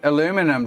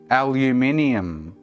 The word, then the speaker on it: aluminium: Aluminium. Look at the missing letter in the aluminum. There's no I after the N.